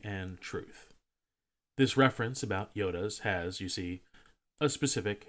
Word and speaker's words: iota: Truth this reference about Yodas has you see a specific historical context side note the reference to the ninth letter of the Greek alphabet is pronounced Yoda not Iota unlike o which receives